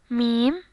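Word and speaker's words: م: Meem, meem, just like M in English.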